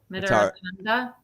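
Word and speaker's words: Mitarotonda: Mitaratanda.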